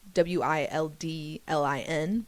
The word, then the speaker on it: Wildlin: WILDLIN, Wildlin, if you need it phonetically spoken.